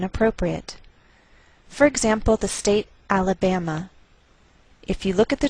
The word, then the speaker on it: Alabama: by a lowered mark so the greater stress is on this third syllable we say Alabama Alabama what else is